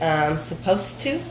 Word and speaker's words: supposed to: you're listening to Americans they don't usually pronounce the end of the word of the "ed" so instead of saying supposed to they will say "supposeTo" supposed to and so